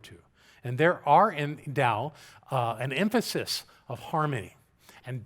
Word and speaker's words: Tao: Why, in English, it was spelled with a T instead of a D, I'll never understand. But it's called the Tao, and that's the path to ultimate reality.